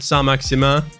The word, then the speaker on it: Saint-Maximin: Yes, the best freaking objective name because I always say Saint-Maximin or Saint-Maxima. And here it is. Get 20 goal contributions with Saint-Maxima. That's the right pronunciation.